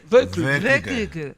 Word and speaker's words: Veuve Clicquot: Es un Veuve Clicquot. Veuve Clicquot. Veuve Clicquot. Veuve Clicquot. Veuve Clicquot. Exactamente, Veuve así se Clicquot, pronuncia.